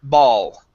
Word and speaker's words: ball: that vowel sound okay same thing with ball instead of bull it's ball ball okay now yeah and